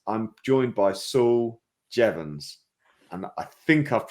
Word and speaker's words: Jeavons: moment ago so it's I'm joined by Saul jevans and I think I've pronounced it I've got a thumbs up on